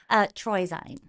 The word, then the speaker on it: Truesein: I make it French and I go Treusein. So I love that. would you like to pronounce your last name so I'm There are a not lot of different chopping it up? Yeah. Treusein.